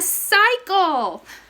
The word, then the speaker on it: cycle: We have 2 C's in it, so we have to figure out which one is hard and which one is soft. So we have C-Y. Y is a magic letter. So this says sigh. And then this C is hard because it has an L afterwards, and an L is not a magic letter.